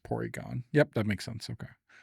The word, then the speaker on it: Porygon: Because of how they pronounce Rs. Porygon.